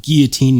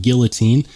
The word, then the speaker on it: guillotine: And yeah, I said guillotine, not guillotine.